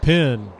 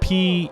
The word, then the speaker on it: Pennes: And now he will deliver the next offering to Eric Penn, whose last name is spelled Pennes, but I was told the pronunciation was simply Pen, Penn.